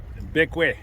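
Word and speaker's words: Bequia: We are sailing out of Bekwe. Bekwe? Have we decided that's how we pronounce That's it?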